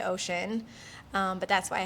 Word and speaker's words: ōSHən: the phonetic spelling so it's pronounced the same way ocean um but that's why